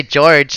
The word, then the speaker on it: Jorge: It's actually spelled out George. So if you wanna go for Jorge, go for it.